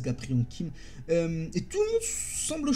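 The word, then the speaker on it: Gapryong Kim: Donc on va la prononcer un peu à la française, Gapriang Kim.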